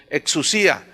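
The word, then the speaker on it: ἐξουσία: La palabra potestades viene del griego exousia, con X, exousia, más bien se pronuncia, exousia.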